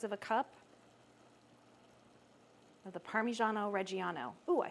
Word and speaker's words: Parmigiano Reggiano: So this is about 2/3 of a cup of the Parmigiano Reggiano.